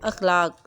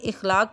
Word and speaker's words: اخلاق: شرف۔ دوسرا لفظ ہے اخلاق، جس کو عام طور پر اخلاق بولا جاتا ہے۔ اس کا صحیح تلفظ ہے الف کے اوپر زبر، خے ساکن، لام کے اوپر زبر، الف، کاف ساکن، اخلاق۔ اور دوسرے الفاظ ہیں